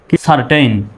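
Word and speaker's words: certain: তাহলে CER সার, সার। TAIN টেইন, সারটেইন।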